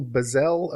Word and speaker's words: Bazzell: You mentioned off the air too, Michael Bazzell, Open Source Intelligence. Is that pronounced that correctly?